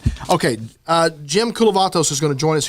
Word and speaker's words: Koulovatos: And again, normally the trio's here, but today it's me, it's Trey Serrala, and our very special guest, Jim Koulovatos.